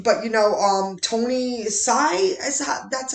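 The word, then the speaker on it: Hsieh: famous but you but you know um tony sy that's how you pronounce his name i know his face from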